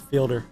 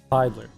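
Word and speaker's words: Fiedler: I always want to say his name is Fielder, but Feidler, Glenn Feidler.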